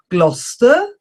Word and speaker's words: Gloucester: Gloucester, Leicester, Worcester, Worcestershire, Yorkshire.